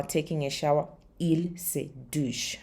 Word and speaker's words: douchent: And they are taking a shower, ils se douchent. Remember the ENT is silent. So, ils se douchent, vous vous douchez, nous nous douchons, il se douche, tu te douches, and je me douche.